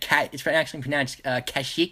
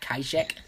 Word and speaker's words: Kashyyyk: It's actually pronounced Kashyyyk, not Kaishek.